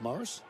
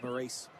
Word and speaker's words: Maurice: Is it pronounced Morris? Just double check. It's actually Maurice. Actually, it's French.